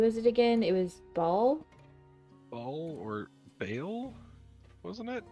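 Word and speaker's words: Bhaal: In Forgotten Realms, it's Ball. It's pronounced Ball.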